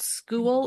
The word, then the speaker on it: Skool: So Go Collab, I don't know, have you heard of the community feature called School? It's spelled SKOOL.